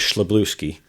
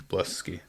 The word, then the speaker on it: Szablewski: I'm going to go with Szablewski. It's wrong. It's Szablewski.